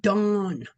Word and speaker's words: Dan: So it is pronounced dawn and uh it can also be spelled d o n.